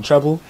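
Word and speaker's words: Trble: I go by the name Treble. Like the music note, you know, but it's spelled differently.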